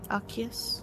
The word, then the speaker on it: Accius: Probably Remo Asies, or Remo Asies, or whatever it is. Remo Aces. Aces. How do you pronounce that? So this is technically Latin, so C's are just K's. Accius?